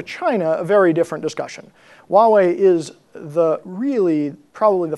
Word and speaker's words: Huawei: there is a test Huawei is pronounced Huawei not Hawaii or anything else I spend a lot